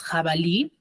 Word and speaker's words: jabalí: muy ahora por ejemplo tenemos jabalí tiene la mayor fuerza de voz en la última sílaba también y después cierto